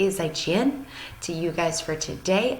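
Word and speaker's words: 再见: markings in their words to say goodbye in Chinese you would say zhichen all right so I'm gonna say is I chin to you guys for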